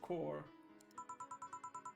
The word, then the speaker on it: corps: Or the S is silent as well, so core.